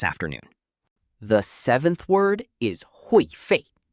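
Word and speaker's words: 会费: The seventh word is hui fei. Pronounced hui fei.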